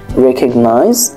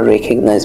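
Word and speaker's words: recognize: পারা sorry sorry আচ্ছা তোমরা এখানে দেখতে পাচ্ছ যে এই শব্দটির উচ্চারণ কিন্তু আমরা রেকগনাইজ বলেছি আর তোমরা যদি নিজেরা এটা পড়ো তাহলে হয়তোবা তোমরা এভাবে পড়বা রিকগনাইজ তো আমরা আশা করব যে তোমরা আমাদের সাথে সাথে সঠিক প্রোনাউন্সিয়েশনটা সঠিক উচ্চারণটাই পড়বে তাহলে তোমার ইংরেজিটা শুনতে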